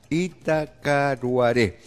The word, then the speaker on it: Itacaruaré: enlazará sin lluvia 34 en itaquera atacar lugares itacaruaré así se pronuncia correctamente